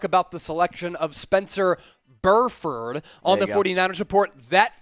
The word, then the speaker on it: Burford: uh i'll double check that i believe you're pronouncing it correctly i'm a little surprised burford yes perfect thank you uh chuadoga athletic con